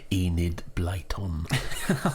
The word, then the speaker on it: Enid Blyton: 3 of the authors whose names I cannot pronounce. Enid Blyton.